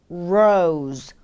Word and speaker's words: rose: 장미, rose, rose, 로즈가 아닌 rose, rose. 충분히 여유 있게 길게 느려서 발음해 주세요.